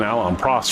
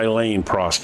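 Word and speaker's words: Alain Prost: But if you go back to that time period, I was actually an Alan Pros fan or Elaine Pros is actually how you say his name, but not in America.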